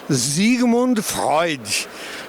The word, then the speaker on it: Sigmund Freud: Onde é que será que ele aprendeu que Sigmund Freud existiu? E ele ainda pronunciou corretamente em alemão Zigmund Freud, né?